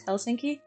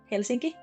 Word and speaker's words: Helsinki: maybe that the capital is Helsinki. Also, I just said that in the English pronunciation. In Finnish, it's Helsinki.